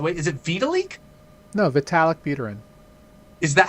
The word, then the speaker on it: Vitalik Buterin: No, Vitalik Buterin. Is that how you pronounce it? That is correct, yes. Okay. Vitalik Buterin.